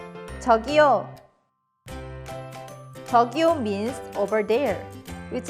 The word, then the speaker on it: 저기요: So let's learn one of the more common ways, which is 저기요. You'd use this excuse me to get someone's attention. Let's first practice the pronunciation of 저기요. 저기요. 저기요.